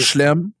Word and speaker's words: Chelem: Mais ça se prononce Chelem. Fait que tu Celle-là, mets un ça E prend pas muet entre ton CH puis ton L.